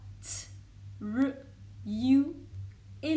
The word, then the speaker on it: true: Rappelle-toi aussi quand tu veux dire que quelque chose est vrai, tu diras T, R, U et la dernière lettre que tu ne prononces pas, ça donnera true.